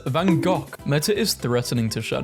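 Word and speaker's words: van Gogh: saying bof is pronounced Vango British saying it's pronounced vanov it's a Dutch name and Dutch pronounce it as vanok meta is threatening to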